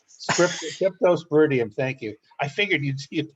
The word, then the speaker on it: Cryptosporidium: big scare with what's crypto something or other, crypto something sporium. I can't get it right. Can't say it right. Cryptosporidium. Cryptosporidium.